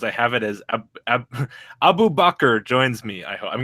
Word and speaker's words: Abubaker: gonna pass your name yeah that's that's the way you pronounce my name like in the Muslim way and so I decide I just the Abu Baker thing is just for the joke so clearly just yeah